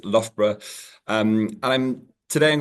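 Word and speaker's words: Loughborough: like logo and everybody struggles with but it's pronounced lra um and I'm today I'm going to talk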